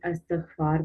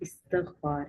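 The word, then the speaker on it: استغفار: तो आम तौर पर जब हम इस लफ्ज़ को प्रोनाउंस करते हैं तो हम इस्तिग़फ़ार पढ़ देते हैं, लेकिन ये इस्तिग़फ़ार है।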